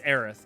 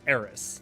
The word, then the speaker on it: Aerith: when seven came out it was eris like that's they localized it incorrectly but it is aerith like eric is correct but that's not even